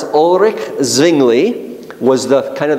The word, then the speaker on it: Ulrich: was yes very good Ulrich you got to roll your r's Ulrich zingli was the kind